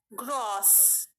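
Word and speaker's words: groß: Strasa, the pronunciation is going long. You can hear it. Strasa, Strasa. Next word is gross.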